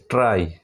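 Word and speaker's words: try: আবার একটা শব্দ আছে এম ওয়াই, মাই, আবার কিছু এরকম অনেক শব্দ আছে টিআর ওয়াই, ট্রাই, এগুলো কিন্তু তোমাদের আলাদাভাবে মনে রাখতে হবে।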